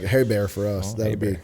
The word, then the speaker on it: Ebare: It's like hay bear. It's like hay bear for us.